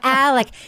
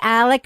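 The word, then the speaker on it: Alex: No, it's Alec. She says she says Elick because of her accent, but it's Alec. It's Alec Murdock.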